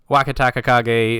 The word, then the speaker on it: Wakatakakage: we'll be able to figure out how to say his name a lot faster than our first time around. Right, we got to do it the way like Hiro does it.